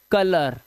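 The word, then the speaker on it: colour: जैसे ओ यू के बाद आर तो इसे कोलुअर ओलअर पर नहीं पढ़ना है। कलर आ की आवाज।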